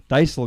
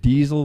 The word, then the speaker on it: Daisel: Daisel, is that how you pronounce it? Yeah, some people said Diesel when I've listened to it before.